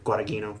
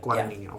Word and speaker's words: Guadagnino: Out of the three, how do you pronounce his name? Tony, do you know? The director, Guadagnino. Oh yeah. Yes, Luca Guadagnino. Yeah. Guadagnino.